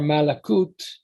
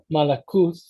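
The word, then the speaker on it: מלכות: So that would basically be two queens, and then malakot or malakut, I would pronounce it as malakuth with a th sound rather than a t, malakuth.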